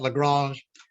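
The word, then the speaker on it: La Grange: Now, in his later years, when he was an older man and he had dinners at Lagrange, I'll use the French pronunciation, at Lagrange.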